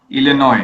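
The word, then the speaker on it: Illinois: Chicago लिनस जी हां मैंने spell सही किया इनोस नय लिनॉय एस साइलेंट आई सी आई सी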